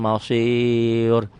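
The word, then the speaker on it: مَصِير: Ro-nya tebel apa tipis? Mausir tipis. Ro-nya jadi mati ya. Ro kecepatan. Ro ini menjadi tebel kalau diteruskan. Wa ilaikal mausirula diteruskan, disambung. Tapi kalau dihentikan mausir jadi sukun jadi tarkik. Jadi tipis.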